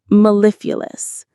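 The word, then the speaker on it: mellifluous: Maleifulous. The stress is on the second syllable.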